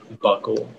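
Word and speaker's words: bokul: treat various ailments uncle are there any alternate pronunciations it's just the one buckle buckle buckle can you repeat the language version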